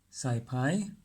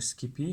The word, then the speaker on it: SciPy: to use a module called PSI Pi or Skippy however you like to pronounce it and this time the